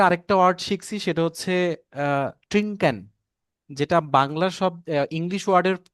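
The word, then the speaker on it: trinken: তো জার্মানিদের উচ্চারণটা হচ্ছে ট্রিঙ্ক, আর ইংলিশ ওয়ার্ডটা হচ্ছে ড্রিঙ্ক।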